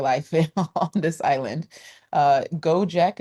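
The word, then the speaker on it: Gojek: Uh Go Jack is spelled G O J E K.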